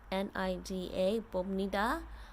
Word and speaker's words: 봅니다: So you'll see in the Korean it's spelled like P, like Bobnida, 봅니다. But because you have this B sound before an N sound, it sounds like 봅니다. It sounds more like an M, 봅니다.